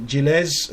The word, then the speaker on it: Gilles: doing all of the smuggling, is played by Gilles Lelouch. Lelouch. Yeah, you actually pronounce it Gilles.